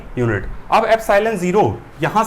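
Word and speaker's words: epsilon naught: ये जो एप्सिलॉन नॉट होता है इसको कैसे प्रोनाउंस करते हैं, एप्सिलॉन 0, ठीक है।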